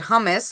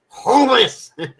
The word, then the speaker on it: hummus: Greek right but hummus now they Americanized it and they called it hummus and they do all sorts of with it hus homus humus pronounce it right homus that's how they were pronouncing it in the movie that was one of the lines that was enough it's like you're choking on it you know you gotta